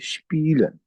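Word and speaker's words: spielen: लिखते हैं हम शपीलन इसको हम प्रोनाउंस करेंगे तो यह होगा शपीलन।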